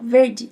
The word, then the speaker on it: verde: Verde, ó, farei um I no final, verde. Em italiano, não se pode.